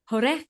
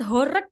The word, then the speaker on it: horeg: So horek apa sound horek apa sound horeh gitu apa gimana? Yang benar itu sound horek, Kak.